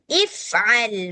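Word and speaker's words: افعل: Tapi kalau kita mau memulakan bacaan dari sini, dari hamzah wasal, maka bacanya jadi if'al ma tu'mar.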